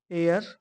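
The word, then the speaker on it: heir: देखो एयर में क्या है? एच साइलेंट है। ठीक? एच से आपका साइलेंट और जो साउंड आ रहा है वह आपका ई से आ रहा है।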